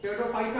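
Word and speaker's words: Pteridophyta: ध्यान रखिएगा P silent है, टेरिडोफाइटा में भी पी साइलेंट है, साइलोप्सिडा में भी पी साइलेंट है।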